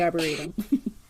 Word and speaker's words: Arboretum: Los Angeles County I never know how to pronounce this word Arboretum arborium I would say Arboretum Arboretum and botanic garden I was homeschooled which